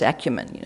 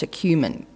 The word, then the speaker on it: acumen: Oh, they can't even pronounce acumen, it's acumen, God.